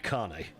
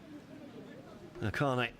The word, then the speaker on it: Kane: So, out comes Amadu Kane. Sorry. Amadu Kane. Really should pronounce that one properly, shouldn't I? Carne, if you can put this one in.